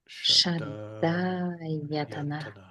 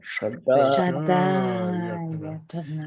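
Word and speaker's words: ṣaḍāyatana: And your tongue should be up against the roof of your mouth, straight up into your brain, because those are cerebral letters. Shraddha-yatana. Say again. Shaddayatana.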